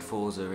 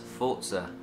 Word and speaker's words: Forza: you pronounce Forza basically I have said Falls are in every video I've ever done but a developers have said actually been and most of you guys that it's pronounced fort sir it's Italian for I can't do with a straight face it's Italian for forced which you know I